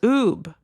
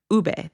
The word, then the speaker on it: ube: coworker started yelling, "What's oob? What's oob?" Ube. They were asking what ube was. Never heard it pronounced like that.